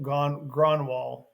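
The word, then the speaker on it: Grönwall: he is Gronwall, Gronwall.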